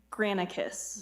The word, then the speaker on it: Granicus: to enter into contract with How do I pronounce that name? Granicus. Granicus, LLC.